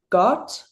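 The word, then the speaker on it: Gåte: They're called um it's spelled G A T E, but I think it's pronounced like got Oh, okay.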